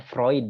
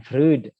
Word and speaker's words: Freud: vroid jadi ini ada Sigmund freund bacanya vroid Ya bukan Freud Sigmund freund dia ini